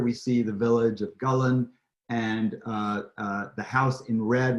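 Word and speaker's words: Gullane: It's not Gulane, it's Gullen, which is at the edge of the Firth of Forth.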